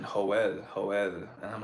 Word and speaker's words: Joel: do know a guy named Joel pronounced hoel that's ugly I don't